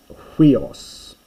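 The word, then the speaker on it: υἱός: Huios, which I have mentioned before, but check the pronunciation carefully. It's huios.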